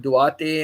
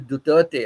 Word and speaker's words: Duterte: I used to pronounce it Duarte, and God knows what all I have to say. And then one day, when on WhatsApp, Pita told me it is Duterte.